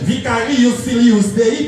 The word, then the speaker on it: vicarius filius Dei: Vicarius filius Dei, parce qu'en latin, toutes les lettres se prononcent.